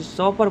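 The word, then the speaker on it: chauffeur: जो ड्राइवर होता है उसको ड्राइवर नहीं बोलते, सॉफर बोलते हैं। हिंदी में बोलते हैं सारथी। क्या बोलते हैं, सॉपर।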